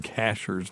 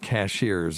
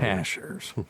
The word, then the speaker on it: Cashiers: It's not Cashiers. If you say Cashiers, we know you ain't from around here. You're a fucking tourist. Yes. No, it's from around Cashiers. So if you ever want to go there and not sound like a tourist, pronounce it correctly.